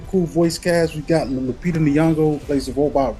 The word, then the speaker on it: Lupita: But Lupita, how do you pronounce her name? Oh, Lupita.